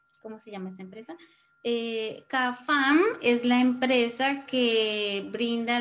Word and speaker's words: Cafam: Por ejemplo, hay personas que no dicen que pertenecen a Cafam. Porque las personas, he escuchado, las personas de aquí donde yo soy, a veces no pronuncian bien la F y pronuncian es una J.